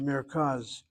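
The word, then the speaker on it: מרכז: Okay, as I continue, the next word is the word merkaz. Merkaz is center. Again, it's two syllables, bisyllabic. The sego closed by the shvanach and the resh.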